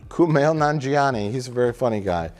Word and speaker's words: Kumail Nanjiani: sequel given how do you say his name kumail nanjiani kumail nanjiani he's a very funny guy yeah i really